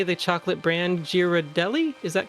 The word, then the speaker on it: Ghirardelli: I don't know how to say the chocolate brand Ghirardelli. Is that correct? Oh, Actually, that's- Ghirardelli.